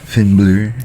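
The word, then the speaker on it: Finn Bálor: It's pronounced Finnblur.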